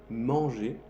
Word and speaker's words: manger: fin de las palabras, muchos verbos que se dicen los verbos del primer grupo terminan en ER para hacer sonido E. Por ejemplo, comer en francés se dice manger, se escribe M-A-N-G-E-R. Manger.